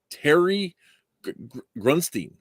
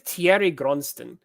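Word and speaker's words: Thierry Groensteen: wrong all these years I think it's Thierry gronsten I think that was the way the interviewer said it and I think he didn't correct her so anyway uh Terry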